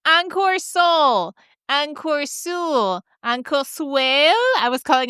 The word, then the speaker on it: Encore Seul: How to pronounce Encore Seul? Well, it's not two easy words. For Anglophones, there's some sound that don't exist in English. So first there's a "en." It's a nasal sound. So the "en" from the first